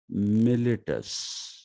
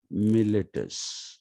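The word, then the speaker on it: Miletus: because these people were from the province of militis m-i-l-e-t-u-s militis these people were from there but you must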